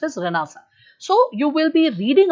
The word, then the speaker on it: Renaissance: be listening to this word rasa it is pronounced as ranasa written as Renaissance okay but pronounced as ranasa so you will be reading about ranasa so